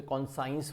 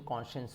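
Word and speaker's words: conscience: आप लोग इसे कॉन्साइंस बोलते हो, लेकिन होती प्रोनाउंसिएशन कॉन्शियंस होता है, कॉन्शियंस होता है।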